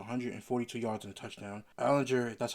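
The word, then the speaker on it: Allgeier: Allinger, that's how you say his name, had 8 attempts for 20 yards and a touchdown.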